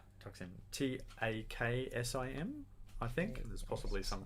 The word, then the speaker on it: taksim: planet and you know cool how do you spell that i might check that out i'll get this wrong toxin t-a-k-s-i-m i think there's possibly some kind of accent